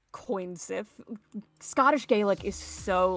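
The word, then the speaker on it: cù-sìth: Yeah, you would pronounce it like coin Sith.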